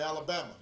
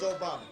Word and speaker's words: Obama: and they'd call me Alabama or they'd call me y mama and I'd have to explain I'd have to explain my name's Obama that my father was